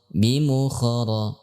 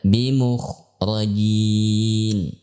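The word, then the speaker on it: بِمُخْرِجِينَ: Contoh ketika diucapkan wa ma hum bimukhara, padahal bimukhrajin. Wa ma hum bimukhrajin.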